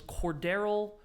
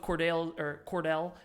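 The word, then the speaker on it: Cordale: It was Cordero, or is that how you say his name? Yeah, Cordero Flott. Cornerback. Cordell? Yeah, Cordell, excuse me.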